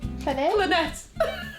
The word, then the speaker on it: clinet: Clinet. If you've been posh, I think it's a cla but we say clinet Yorkshire.